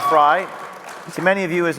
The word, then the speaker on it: Frei: Known as Viva Frei, Fry, to many of you